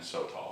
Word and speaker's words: Sotol: And today we are using Sotol. Sotol. Or haven't we heard it pronounced different ways? I looked it up, Sotol? and they had like a genuine, actual Mexican on the YouTube video saying Sotol.